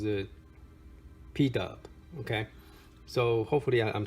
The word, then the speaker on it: PDub: It's actually spelled D and then PUBS, but he pronounced it PDub.